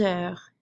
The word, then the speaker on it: heure: then we have heure, which you've noticed as I've been talking that this H is silent. So really my word here starts with a vowel.